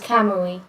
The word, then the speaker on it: Kamui: yeah com yeah remember vowels are only pronounced one way in japanese i didn't know i didn't know how to pronounce it but that's how i've been saying it was kamui yep kamui is and